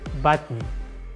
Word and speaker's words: button: but exceptions exist in everything another example like button button kitten kitten mountain mountain it is the